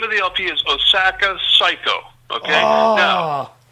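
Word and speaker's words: 最高: So the LP is called, the name of the LP is Osaka Psycho. Okay? Oh. Now, it's spelled S-A-I-K-O-U. That's when they say psycho. That's a Japanese word.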